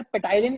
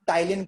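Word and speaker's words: ptyalin: पी लिखा है सर, पिटाइलिन कहेंगे ना, पिटाइलिन, पिटाई लगाओ बेटा। अगर तुम पिटाइलिन कहोगे तो मैं पिटाई लगा दूंगा तुम्हारी, क्यों बेटा? ये पी साइलेंट है इसमें, तो आप सिर्फ टाइलिन कहोगे।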